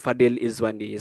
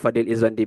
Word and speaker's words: Fadil Izwandi: Should be separated Fadil in Izwandi, but it's a defect actually. uh, when my father registered at Kementerian, so it's combined Fadil Izwandi, so we should pronounce it separated lah, Fadil Izwandi bin